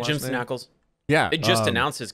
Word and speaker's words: Ackles: How do you pronounce his last name? Jensen Ackles.